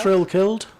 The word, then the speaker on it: Farrow-Kells: Have I Am I pronouncing that right, do you think? Farrow-Kells? Farrow-Kells, yes. Farrow as it's as it's spelt?